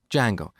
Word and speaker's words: Django: very popular framework called Django so it's spelled with a silent D and it's pronounced Django it's a web framework